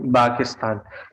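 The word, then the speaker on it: باكستان: अना मन बा किस्तान यहां पर हम जाहिर है प या फ साउंड जो है इसको हमय अरबी में नहीं होती हम इसको बा से प्रोनाउंस करते है क्योंकि वो उसके करीब है तो अना अना का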